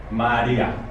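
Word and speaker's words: María: Maria. Maria. That's why Maria has an accent on the I. To break it and separate it.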